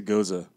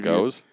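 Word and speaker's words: Gose: brewing two ghosts okay sorry to Goza they actually it's a goes they give you a phonetic pronunciation here okay it's a key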